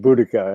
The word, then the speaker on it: Boudicca: piece of reality to it yeah you mean Boudicca it's pronounced Boudicca an Anglo-Saxon yeah excuse me I I'm not